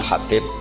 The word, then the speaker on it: Habib: yang nulis Abi Abdurrahman Habib assulami itu di harakatnya kitab itu ada yang nulis hubb Yang benar Oh gigih yang benar itu bacanya habib habib itu asulami itu ikut